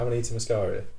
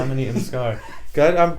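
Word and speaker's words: Amanita muscaria: Amita Mascara. Yeah. Is that right? Yeah. Ammonita Mascara. I was watching Americans say it so they probably pronounce it differently to me. They might say ammonita mascara. Whatever the But yeah.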